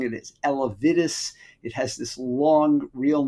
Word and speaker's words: Elevidys: And that is a drug, I'm pronouncing it as Elevidys.